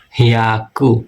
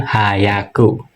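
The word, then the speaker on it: 百: H ya a ku. Haku. Bukan hayaku. Kalau hayaku itu cepat.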